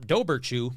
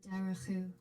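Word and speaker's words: Dobhar-chú: It's not Doberchew, I can tell you that. All right. All right, here we go. Since the 1600s, there have been written accounts of the Dowerchu. See that? Dowerchu.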